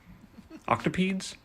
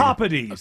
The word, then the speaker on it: octopodes: Octopedes? Sounds better to me. Anyway, thank you very much. I knew that guy wasn't pronouncing it right for the word of the day.